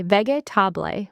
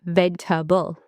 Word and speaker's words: vegetable: People often say vegetable with 4 syllables. Native speakers say vegetable, just 3. Skip the "a" in the middle.